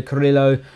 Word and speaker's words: Carrillo: Looks like we've finally got Guido Carrillo across the line. Notice the rolling of the R's there.